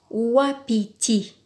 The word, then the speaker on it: wapiti: Wapiti. Wa. Ou.